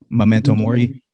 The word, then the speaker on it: Memento Mori: Is that how you say it? Yeah. Memento Mori.